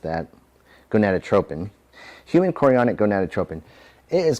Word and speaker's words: gonadotropin: This is best for HCG testing, which would be human chorionic gonadotropic hormone. I may have mispronounced that. Gonadotropin.